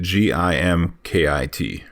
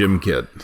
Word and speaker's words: Gimkit: So GimKit, GIMKIT. Yes. GimKit. GimKit. Don't which pronounce is not, it Gymkit. Right. Because it's not for physical education.